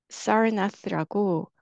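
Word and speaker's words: Sarnath: 여기가 어 Park이 지금 현재는 어 어 사나라 발음하고 어 우리나라 사람은 사르나트 아고 합니다 그죠 사르나트 바라나시 이게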